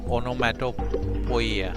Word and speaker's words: onomatopoeia: What is an onomatopoeia? How do you pronounce this?